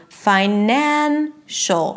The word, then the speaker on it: financial: Same thing with "finance". The primary stress is on FI - 'FI-nance'. Once I add the suffix, then it turns into 'fi-NAN-cial'.